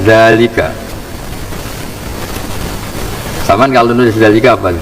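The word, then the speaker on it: ذٰلِكَ: Terus sampean kalau nulis dalika dalal lam kaf dalalnya ada alif apa gak? Gak kan? Tapi baca dalnya panjang enggak? Panjang bacanya kan dalika.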